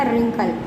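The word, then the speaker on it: wrinkle: देखिए हमने क्या पढ़ा, रिंकल, W साइलेंट है, व्रिगल, है ना, राइट, इसमें सब में R का उच्चारण हो रहा है, लेकिन W लिखा होने के बावजूद भी W क्या है, साइलेंट।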